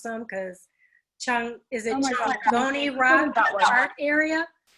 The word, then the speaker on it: Chongoni: Now, some of these words I'm going to let you just go ahead and tell me how to pronounce them, because Chongoni Rock Art Area? Chongoni, am I saying it correctly?